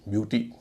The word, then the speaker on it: beau: जा रहा है यू, ब्यूटी। तो ब्यूरो, ब्यूरो में EAU का उच्चारण हो रहा है ओ, ब्यूरो। इस तरह एक शब्द है बो, BEAU, इसका उच्चारण होगा बो।